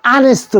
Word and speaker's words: honest: An honest boy. 정직한 소년 한 명. 그죠? honest.